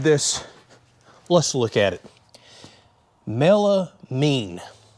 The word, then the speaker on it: melamine: let's look at it melamine i've been saying it wrong all these years i call it melanin but anyways here's some